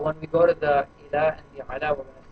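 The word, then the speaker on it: إلى: Now, when you have something like ila, ila means to or towards, right? So usually, when it's just standing by itself, you don't pronounce the ya, right? You say ila.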